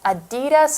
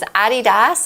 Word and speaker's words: adidas: this other one which I never know how to say if it's adidas or a DDoS ah so you have this sort of American pronunciation european pronunciation and my European friends worse that is a DDoS and he always corrects us every time okay it comes from the company founders name which is a doff Dassler so a add D